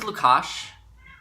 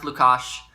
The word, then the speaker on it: Lukas: So, my name is Lukash. I just want to clear that up. It's pronounced Lukash. It's not spelled like it is in my channel name.